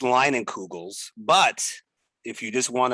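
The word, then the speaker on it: Leinenkugel's: called sure so it's it's pronounced line and kugels but if you just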